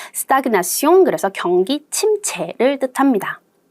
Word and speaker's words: stagnation: stagnation. 그래서 발음 주의하세요. 여기서 제 발음이 납니다. stagnation.